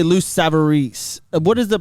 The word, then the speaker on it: Savarese: what is the pronunciation it depends where you are when i first moved down there was lou sabarez they were all saying my name was samris and then that's lou savarese in in italy you say